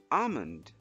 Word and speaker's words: almond: Next, we have this word which is pronounced as almond. Almond.